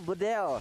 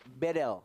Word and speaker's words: Bedel: Dari mahasiswa Turki, dia bilang, Bang Kornet bacanya bukan Bedel, Jadi? tapi E-nya dibaca semuanya E, jadi Bedel. Bedel.